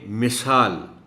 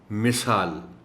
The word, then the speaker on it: مثال: بے مثال، میم کے نیچے کی زیر کو ذرا احتیاط سے نمایاں کر کے پڑھا جائے. مثال.